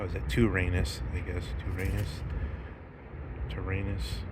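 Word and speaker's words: τύραννος: Tyrannus, I guess. Tyrannus. The Y would be pronounced more like a U in ancient Greek.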